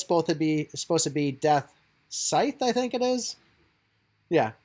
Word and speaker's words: Death Scythe: I know it's supposed to be Death Scythe, I think it is. Yeah, because somebody actually spelled out and said the C is silent, and they spelled it like, you know, SCYLENT.